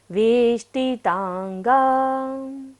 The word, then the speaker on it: वेष्टितांगा: वेष्टि में देखिएगा मूर्धन्य श है, मूर्धा से उच्चारण करेंगे। वेष्टितांगा।